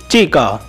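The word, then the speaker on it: Cheka: Guys आप इसे चीका भी बोल सकते हो और आप इसे चेका भी बोल सकते हो, दोनों ही प्रोनाउंसिएशन सही है।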